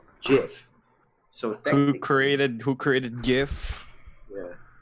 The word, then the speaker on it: GIF: guy is but it did confirm that you pronounce gif as jiff so created who created